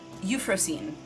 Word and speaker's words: Euphrosyne: create these signups for the, what is it pronounced again? Euphrosyne, that's it.